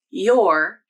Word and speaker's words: you're: You're using the OR vowel. Or you're using the unstressed ER vowel. I think the more common pronunciation is you're using the OR vowel, and that is how I pronounce this word.